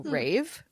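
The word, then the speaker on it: Raev: the book is r a y- VV so Rave okay all right so it follows Rave and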